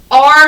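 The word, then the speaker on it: are: of one so r how we write r is a r e so this is just where the magic e rule isn't true and the e is silent so it doesn't make any noise and then the r takes the a's name it's a trickier word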